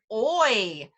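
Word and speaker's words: hoy: add in the word oi oi was one of our example words before remember we don't say that H oy means today oi okay so we teach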